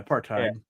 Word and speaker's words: apartheid: Yeah, apartheid.